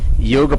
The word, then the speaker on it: योग: और उनको क्या होता है, ये जो विदेशी लोग होते हैं ना, उनको योग नहीं बोलना आता।